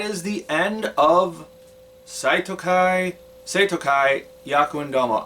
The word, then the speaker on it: Seitokai: I spent years pronouncing it Saitokai for some reason just because I didn't it was back before I learned how to pronounce the romanized versions of Japanese words.